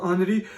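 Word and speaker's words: Henri: कर पा रहा क्योंकि हेनरी को वो लोग आनरी और डुनांट के एंड पे टी साइलेंट होता है, तो आनरी डुनांट।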